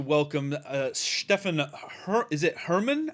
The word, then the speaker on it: Hermann: very excited to welcome uh stefan is it herman how now am i saying it right hereman hey yeah yeah that's herman hellman herman yeah okay hellman stephanie how about like the german pronunciation a german accent german's a bit rusty